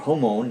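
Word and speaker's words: Jōmon: But at any rate, what we have in Japan proper after this is what's called the Jomon period, or Homon, depending on which pronunciation you're going to use.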